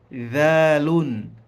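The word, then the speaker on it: ذال: Hii ni dhalun. Dhalun. Kwa hiyo inavyotamkwa ni dha dhi dhu.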